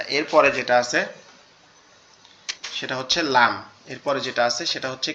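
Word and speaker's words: ل: ওকে, আচ্ছা, এরপরে যেটা আছে সেটা হচ্ছে লাম। এরপরে যেটা আছে সেটা হচ্ছে কি? সেটা হচ্ছে লাম।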